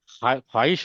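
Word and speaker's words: خواہش: आपको बुक में नहीं मिलेगा, बट you have to pronounce like that only, because there is a word ख्वाहिश होता है, और खा खा हश नहीं होता है, खा हुश नहीं होता है।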